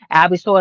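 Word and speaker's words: Al B. Sure!: Here it's spelled just like it sounds. Al ALLB SURE. Okay, and pull up his old songs, but he has reservations about Diddy.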